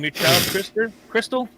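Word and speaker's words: Krxstxl: l confused yes I am the name is pronounced Crystal I already don't like that name because it's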